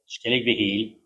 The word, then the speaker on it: Skellig Michael: But when I was on Skellig Michael, Skellig Michael, to give it its correct pronunciation, I was so inspired